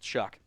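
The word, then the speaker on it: Shough: S H O U G H pronounced Chuck.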